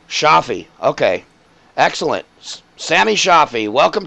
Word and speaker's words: Chohfi: pretty close it's it's pretty much how everyone pronounces but of shaffi shaffi okay excellent Samy shaffi welcome to the wave